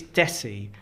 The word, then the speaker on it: desi: So, so like it's desi and it it's like rhymes with messi. Messi. That's the best way to do it. So, so aim for Lionel Messi and say Desi.